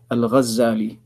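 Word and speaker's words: Al-Ghazzali: That is why the correct pronunciation of his name is Al-Ghazali, with a tashdid on the za.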